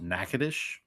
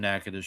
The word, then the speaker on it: Natchitoches: And apparently the hardest word for them to pronounce was Natchitoches.